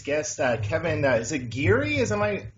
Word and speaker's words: Geary: show with today's guest Uh Kevin is it giri as am I pronouncing that right from rebooted body um that's